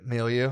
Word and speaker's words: milieu: Milieu. And Yeah. you said it right, too. Yeah. Hell yeah. I now I Google pronunciation after I've been embarrassed a bunch of times.